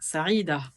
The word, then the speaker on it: Saïd: Dans la série Magnifiques prénoms arabes, voici le tour des Saïd, Saïda, prononcé Saïd, Sadia.